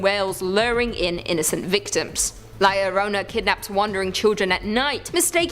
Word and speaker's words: La Llorona: Hailing from Hispanic folklore, La Llorona, which I'm pronouncing correctly now after you guys yelled at